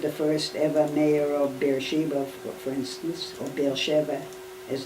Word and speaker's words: Beersheba: It's Beersheva. That's in Hebrew. Yeah. In English, it's Beersheba.